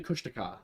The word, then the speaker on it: Kushtaka: And then you've got the Kushtaka, which is an otterman. You're I think it's actually Kushtaka. I was I was told. Ah, I've been pronouncing it wrong.